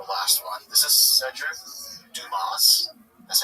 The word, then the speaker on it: Dumas: This is Cedric Dumas. That's how you pronounce his last name.